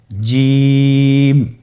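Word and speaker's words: ج: চেষ্টা করুন হয়ে যাবে এর মাখরাজ হলো জিহ্বার মধ্যখান তার বরাবর উপরের তালুর সঙ্গে লাগিয়ে উচ্চারিত হয় আপনারা পিকচারে ছবিতে দেখতে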